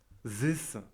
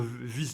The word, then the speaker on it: this: Et on va le prononcer de manière dure pour, par exemple, this. Donc c'est presque un V. Mais attention, c'est pas. Attention, faut pas dire vis non plus. Hein. C'est pas vis.